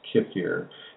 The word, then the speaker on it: kefir: And if you go against the transformation of the intestinal tract, yes, Sukha, I mean, how do you pronounce kefir?